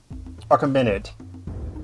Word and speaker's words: Achaemenid: the Persian Empire, or what's known as the Achaemenid Empire. Am I saying that? Am I pronouncing that correctly? Yeah, Achaemenid Empire.